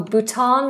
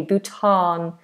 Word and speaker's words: Bhutan: Oh, Bhutan with a long a Bhutan.